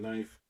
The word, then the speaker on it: knife: Fuck the K and knife.